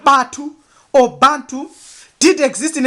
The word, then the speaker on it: ba: The sign is followed by the bird pronounced as Ba and denotes the soul together with the glyph for bread T, which is material.